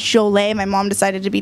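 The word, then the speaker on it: Jolé: Jolet, J-O-L-E, like Joel, but it usually has an accent on it, so it's Jolet.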